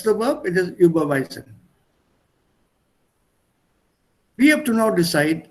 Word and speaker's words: überweisen: so from a pronunciation point of view, it should be überweisen.